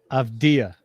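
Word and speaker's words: Avdija: Do you want to know how do you really pronounce Denny's name? Avdia.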